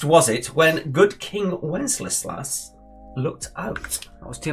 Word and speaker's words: Wenceslas: Which feast was it when good King Wenceslas looked out? That was too many L's. I mean, you had to go at me for mispronouncing a niche pioneer medicine person. You couldn't even say Wenceslas right.